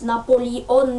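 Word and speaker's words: Napoleone: le monde son prénom il le prononce comme en corse napoli on est ce qui fait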